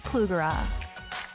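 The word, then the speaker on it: Plugrá: She's teaming up with Plugara.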